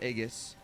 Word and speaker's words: Aegis: as soon as we get in there, I'm gonna cast my Shar's Aegis to, it always bugged me that the G is a hard G. Like Aegis.